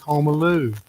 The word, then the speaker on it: Homaloo: The way I remember how to say his name is Home Alone, that movie you remember a few years ago. He is Homaloo.